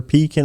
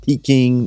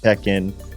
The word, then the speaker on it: Pekin: Not Peking, not Pekin, as some of our customers often mispronounce it.